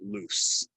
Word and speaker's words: loose: is moving around um loose sounds like an S right lose would be